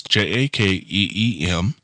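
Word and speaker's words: Jakeem: wide receiver Jacob Grant I hope I pronounced his name right it's j a Keem Jacob Grant was involved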